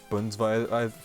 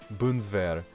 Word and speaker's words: Bundeswehr: Budweiser. Why did I have Budweiser, man? Bundeswehr. That was the fucking name. I pronounced it as Budweiser.